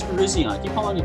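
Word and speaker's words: Virizion: got is this shiny Verizion or technically it's Verizion I keep following a Verizon but I believe it has been officially confirmed it's pronounced Verizion either way it's cool I did a raid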